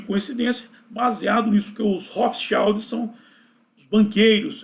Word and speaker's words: Rothschild: E finalmente chegamos à última família, a última das 13 famílias dinásticas, a família que muitos chamam de Hotschield. Eu vou pronunciar Hofschild, mais próximo do alemão, Hofscheld, OK?